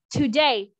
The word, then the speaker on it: today: Today. À, chữ này mình sẽ nhấn âm sau. Today. Today. Okay. Chứ không phải là today. À, mình không có nhấn cái âm đầu mà mình đọc là today.